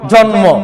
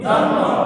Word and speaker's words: জন্ম: যুগ্ম যুগ্ম খেয়াল করেন এরপরে আসছে দন্তান নর পরে ম ফালা আসছে দন্ত নর পরে যদি ম ফালা আসে তাহলে ম ফালা উচ্চারণ হবে যেমন জন্ম যেমন কি জন্ম অনুরূপভাবে ল বর্ণের পরে